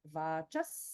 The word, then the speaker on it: वाचः: Whereas in the word Vachaha, because it's followed by the Sa in Satya, this Visarga is pronounced exactly like Sa, and there's holding there, so we have Vachas Satya, Vachas Satya.